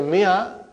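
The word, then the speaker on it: مائة: In the mi'a, alif is not pronounced.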